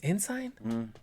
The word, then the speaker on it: Ensign: Yeah, Ensign. Ensign. It's Ensign? Yeah, same spelling as the I always military say rank. But it's ensign.